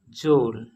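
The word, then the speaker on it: geôle: से पहले आता है तो ई म्यूट होकर जी के साउंड को सॉफ्ट बना देता है। जैसे कि एग्जाम्पल, जोल जोल प्रोनाउंसिएशन एज जोल जोल मीन्स जेल जेल।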